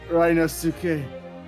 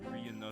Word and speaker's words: Ryunosuke: It's pronounced Ryunosuke.